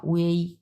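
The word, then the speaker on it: ui: যেটা দেওয়া আছে উই এটার উচ্চারণ হবে এটা উই হুম এটার উচ্চারণ হবে যে এটা উই বাট লেখা থাকবে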